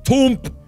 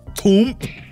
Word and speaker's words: Tuump: my name is *thinking sounds* t- tuu- toooooooomp MY NAME IS TUUMP! Welcome aboard, TUUMP! It's good to have you on the team it's pronounced TOOMP! Come find me after you're done.